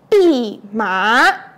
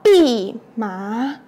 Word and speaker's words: 蓖麻: 哦，这 2 个字叫做蓖麻，再念一次哦，叫做蓖麻。这个植物就叫做蓖麻，要先认得哦，它